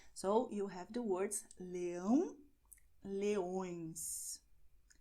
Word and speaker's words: leão: So you have the words leão, leões, leão, leões, lion, lions. As you see, in English it's a little nasal, but in Portuguese you go and, well, you will make it really nasal, okay?